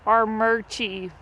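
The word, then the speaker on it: Armuchee: area called our but it is spelled a-r-m-u-c-h-e-e and it's our murchie but there's only one r i don't know it's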